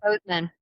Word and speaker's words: Bozeman: Yep, Bozeman.